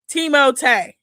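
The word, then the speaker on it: Timothée: Oh, Teimote. What? Who's Teimote? That's how he said that's how he pronounced his name because he's French. Teimote.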